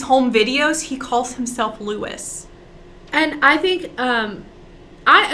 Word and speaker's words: Louis: i'm shocked willie armstrong louis armstrong pronounced his name lewis like what um so